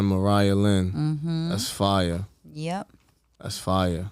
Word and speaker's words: Mariahlynn: How you pronounce it again? Mariahlynn. Mariahlynn.